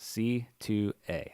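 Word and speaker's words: Sithu Aye: like our Jeek music, confirmed that it is pronounced C2A. That is how you pronounce it. Huh. I've does that never mean? known that. So C2A, So like Sithu I is C2A.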